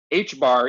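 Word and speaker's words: ħ: H bar is how you say it.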